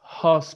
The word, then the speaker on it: house: recuerden que house espiral la pronunciación es house pero aspirada la h know how suspiro recuerden